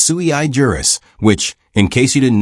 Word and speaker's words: sui juris: It's not sujurus, it's sui juris, which in case you didn't know, is Latin for crayon cruncher.